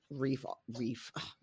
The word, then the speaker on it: Reek: they sort of drop Reek off. Sort of it rhymes with leak. Not with leaf.